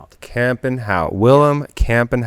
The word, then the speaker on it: Kampenhout: Okay, it's a mouthful. It's really the K gets people, but it's camp and camp and how William Camp and how.